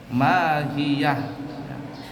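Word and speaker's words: ماهيه: yang panasnya luar biasa huruf H yang terdapat pada lafaz hias adalah mati maksudnya baik dalam keadaan washal ataupun wakaf tetap dibaca mahiyah itu bacanya begitu wama adalah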